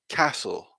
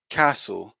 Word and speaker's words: castle: here sorry okay so we can see here pronunciation is castle castle some interesting things to look at the pronunciation